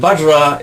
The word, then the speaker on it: vajra: we playay bajra and bajra is in English we spell it V A J R A bajra but the V is pered the lower lip on the H badra okay so bana means vehicle